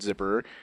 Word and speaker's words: Zipperer: Is He's it spelled like zipper? It's Zipperer.